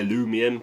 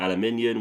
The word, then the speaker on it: aluminium: as as a as the USA guys like to say alumium but I call it aluminium which is the proper pronunciation like I say good